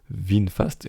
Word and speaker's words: VinFast: Ils ont un constructeur qui s'appelle VinFast, comme ça se prononce, VinFast.